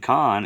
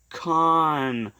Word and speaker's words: Cahn: you also with Johnathan Cahn, artist. You see his name is spelled C-U-H-N, and then there's the word C-O-N. Those are homophones. Those two words are what's known as a homophone.